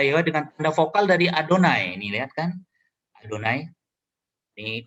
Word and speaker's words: Adonai: Di tulisannya ini diucapkan Adonai.